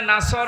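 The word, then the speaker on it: نصر: এখানে সোয়াদ আছে নাসর মানে সাহায্য আর নুন সিন র নাসর মানে এগোল্প পাখি আপনি যদি মুখটা গোল করে শুদ্ধ করে উচ্চারণ না করেন অর্থ আকাশ পাতাল পাল্টিয়ে যাবে আল্লাহ পাক বলেন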